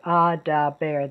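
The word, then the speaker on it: אֲדַבֵּר: So in the pa'al, the future tense, I will guard, eshmor, has two syllables. Here, for the imperfect, I will speak, it's adaber. There are three syllables.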